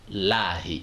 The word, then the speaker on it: الله: La dernière lettre, c'est N qui a pris la voyelle I, d'où la nécessité de prononcer le nom d'Allah, Lahi, et non La.